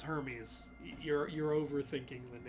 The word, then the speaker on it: Hermes: cat that we named Hermes at the vet they pronounced it Herme and we were like it's Hermes you're you're overthinking the